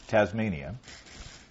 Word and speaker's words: Tasmania: Jack from Wynyard, Tasmania. Good day, mate. He says pronounced Tasmania. Oh, oh, he changed the S for a Z.